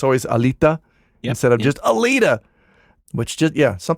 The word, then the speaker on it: Alita: of Hispanic origin because when he pronounces the T in Alita, he kind of puts his tongue behind his teeth. Oh, sure. Like you would if you were pronouncing something in Spanish. It's always Alita instead of